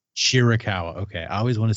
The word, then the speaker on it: Shirakawa: Tony storm and Mina is it shirakawa I always say it wrong shawa shirakawa okay I always want